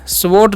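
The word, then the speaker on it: sword: डब् पढ़ते है शड स्ड नहीं पढ़ेगा यहां पर डब्लू साइलेंट होता है ठीक है तो इसे हम पढ़ते हैं सोड इट सोड यानी कि यह तलवार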